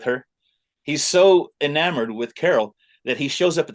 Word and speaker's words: Carol: Cracker Barrel uh name named Carol rhymes with Barrel anyway then instead of right there on our apron and and this dude is he's so smitten with her he's so enamored with Carol that he shows up